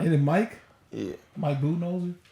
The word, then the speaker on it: Budenholzer: will be the Phoenix Suns, who fired Bud Budenholzer. I said, what else I call him? Fred? What's his name? I forgot. Ain't it Mike? Yeah. Mike Budenholzer?